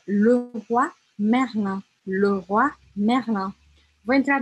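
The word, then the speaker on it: Leroy Merlin: Ah, me disseram que Le Roi Merlin se pronuncia Le Roi Merlin. Na verdade, se fala assim, ó, stop a lab. É Le Roi Merlin, Le Roi Merlin.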